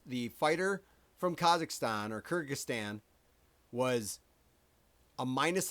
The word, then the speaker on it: Kyrgyzstan: How do you say Kyrgyz Kyrgyzstan?